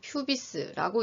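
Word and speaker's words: pubis: 관골은 세 부분으로 나누어 볼 수가 있는데, 장골, 엉덩이뼈, 일리움이라고 읽고, 좌골은 궁둥이뼈, 이스키움이라고 읽고, 치골은 두덩뼈라고 해서 퓨비스라고 있습니다.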